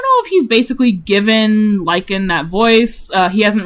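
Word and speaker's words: Lichen: And by the way, uh his name Lykan's name is spelled L I C H E N. Lykan like the freaking uh glow lykan from Minecraft or like real life Lykan.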